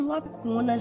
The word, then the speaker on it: lacunas: Eu achei a sua muito cheia de lacunas, Leona. Você não terminou a faculdade? Lacunas, bem... quase não se percebe o S final.